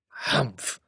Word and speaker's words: Humph: Humph, said the sand fairy. If you read this story aloud, please pronounce humph exactly as it is spelt, for that is how he said it. Humph.